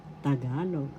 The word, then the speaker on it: Tagalog: know how to pronounceagalog tagalog first syllable ta second syllable ga third syllable log the accent is in the second syllable so you pronounce it or bigas in tagalog